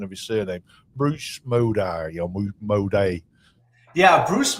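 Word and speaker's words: Mowday: You can correct me on the pronunciation of his surname, Bruce Moday or Moday. Yeah, Bruce Maude is a very interesting guy.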